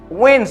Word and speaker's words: Wednesday: here I say wins wins the letter B is not pronounced wins the S sounds like a z Wednesday Wednesday and this